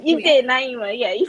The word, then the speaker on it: Naimah: Naima.